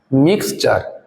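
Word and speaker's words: mixture: পরে যদি আই ও এন থাকে তখনও এর উচ্চারণ কি হবে চ হবে যেমন মিক্সচার এখানে দেখো টি এর পর কি আছে উরি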